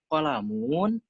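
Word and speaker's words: قَلَمٌ: Misalkan qalamun, qalamun, di qafnya ditekan, atau kitabun, bukan kitabun.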